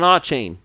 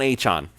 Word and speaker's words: Achane: So Tyreek Hill, Raheem Mostert, Devon Achane, I said it wrong again, but whatever, Devon Achane.